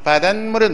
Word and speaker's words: 바닷물: 그러나 바닷물은 뭐예요? 미음 앞에 시옷 있을 자리에 발음이 니은 첨가되잖아요. 바닷물 해가지고.